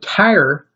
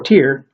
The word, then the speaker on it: Tyre: building itself love the city of Tyre or tear depending on pronunciation I'm not very good